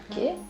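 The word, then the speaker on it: או: Ça se prononce O.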